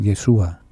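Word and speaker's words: ישוע: dios yehoshúa se abrevia va solía cortar se pronuncia de yeshua por razones de familiaridad a su vez en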